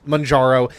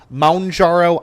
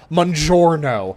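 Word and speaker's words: Mounjaro: The number of people who pronounce it mjouro like they're ordering a freaking pizza is ridiculous. Like there's not an N at the end of the word.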